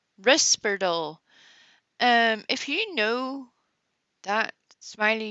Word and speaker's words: Risperdal: So Smiley has known people that take lithium, and to use her pronunciation, not the subtitles, but she said Risperdal. Not Risperidol, Risperdal.